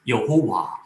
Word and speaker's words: Jehovah: In other parts of the world, they pronounce God's name as Yehovah. In English, however, we say Jehovah, which comes after mispronouncing Y for J and W for V.